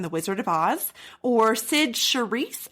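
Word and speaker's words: Cyd Charisse: wizard of oz or sid cherise i believe is how you pronounce it she was the memorable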